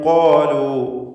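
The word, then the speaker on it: قَالُوا: മുബ്സിറതൻ ഖാലു, ഖാലു എന്ന് പറയുമ്പോൾ ഖാഫിനും അലിഫിനും തഫ്ഖീമാണ്, ദീർഘാക്ഷരമായ അലിഫിലും തഫ്ഖീമാണ്. ഖാലു ഹാദ, ഹാദ 2 അക്ഷരം ഇസ്തിഫാലിൻ്റെതാണ്.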